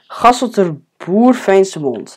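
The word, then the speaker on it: Gasselterboerveenschemond: So I also forget this name a lot, but it's Gasselterboer-Veensemond. That's how you need to pronounce it, but I guess that a lot of you in here just don't know how to pronounce that actually.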